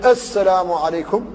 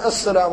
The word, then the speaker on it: السلام عليكم: قطعها قطعها قطعها فيقول السلام عليكم وبعضهم ايضا يبالغ في تشديد السين تشديدا كبيرا حتى تكون صفيرا مدويا وبالاخص بعض الائمه فيقول السلام عليكم بتشديد شديد وهذا غلط في النطق بالحرف فيقول الانسان السلام عليكم